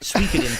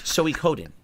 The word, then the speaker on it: Suikoden: It's not Suikoden 3 syllables. It's 4. It's Suikoden. I have to remember the 4 syllables.